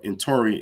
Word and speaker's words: Intori: So Intori is a Fulani rendition of Necher. So the Fulani use the word Necher in their language. They pronounce it Intori.